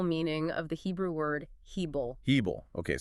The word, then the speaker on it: hebel: Well, because it captures the precise literal meaning of the Hebrew word hebel. Hebel. Okay, spell that out for us.